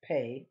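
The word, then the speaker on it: פּ: a review pay now this one has two forms uh it has the same shape but without the little dot so this is pay with the dot the one without the dot is fae so we have pay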